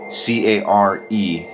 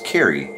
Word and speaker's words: Care: spell the name Carrie, C-A-R-E, even like two E's. I've seen a few people, I mean, believe it or not, like, it's like, oh, your name's Care? No, it's Carrie, but it's spelled C-A-R-E.